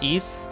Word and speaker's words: Ys: east 3 or something i'm pronouncing that right right it's ease kinda i'm gonna